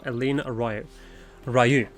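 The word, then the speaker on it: Eline Roaille: Listen well, the spy we have been seeking all this time is none other than Flame Marshal Eline Ryu. That's actually how you say her name, by the way.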